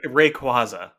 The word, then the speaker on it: Rayquaza: So it's Rayquaza. Oh, yeah, that's not what it's spelled here.